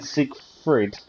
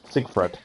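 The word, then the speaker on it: Sigfred: we've done avengers gaming i keep saying siegfried fried siegfried and he seek fred okay is it i've i've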